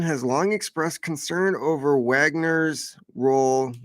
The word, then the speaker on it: Wagner: waged years-long shadow war against Wagner mercenaries in Africa. Although I hear it's Wagner, it's actually Wagner.